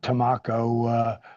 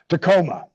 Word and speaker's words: Tacoma: I can never freaking pronounce it. Not Tamako.